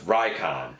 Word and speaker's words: Recon: By the way, Recon is not actually Recon. Apparently, it's pronounced like Icon with an R in front of it. So it's Rycon.